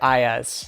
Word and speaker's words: Ayaz: So I want to make sure I'm pronouncing the names correctly. Zeenat? Yes. And Ayaz?